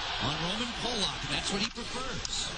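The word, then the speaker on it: Roman Polák: And yes, we did check the pronunciation on Roman Polak, and that's what he prefers.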